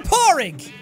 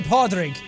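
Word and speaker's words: Pádraig: You're Porrig. That's how you pronounce it. You could also say Podrig. Podrig, if you wanted to. It's Irish for Patrick.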